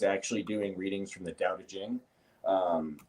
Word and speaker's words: Dao De Jing: doing readings from the dow jing um or however you want to pronounce it there's different pronunciations um people say ching but dao de jing is typically more typical so anywho i do